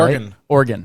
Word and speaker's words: Oregon: It's Oregon, right? Oregon.